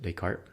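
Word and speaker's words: Descartes: talk a lot about decart by the way his name is U he's French so that's how you pronounce it decart and uh we're going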